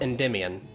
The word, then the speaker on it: Endymion: okay oh and and it's it's pronounced endymion just there we go yeah so shambrose apologizes for interrupting you all and he informs you all that his captain lord aaron axe enderman enemy endymion endemion yeah three syllables endymion oh okay hey so